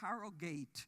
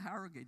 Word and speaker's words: Harrogate: here I came to Harrogate and then I realized oh it's not Harrogate it's Harrogate right so I mean English